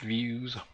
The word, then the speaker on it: Veusz: through every last detail the views product it apparently pronounced views is a scientific data